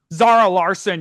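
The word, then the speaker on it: Zara Larsson: And then they had, is it pronounced Zara Larson? Zara Larson.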